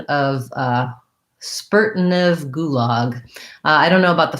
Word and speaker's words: gulag: a local pronunciation and then gulag has a tense ooh and the relax and the open ah gulag um okay sandra would